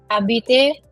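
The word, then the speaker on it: habite: and these two change but abite has a different pronunciation. Why? Because the h is silent here.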